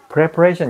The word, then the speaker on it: preparation: 근데 preparation 이거는 보면 명사가 됐잖아요. 이렇게 해가지고 여기에 악센트가 오거든. TION이 오면 항상 그 앞에 악센트가 온단 말이에요.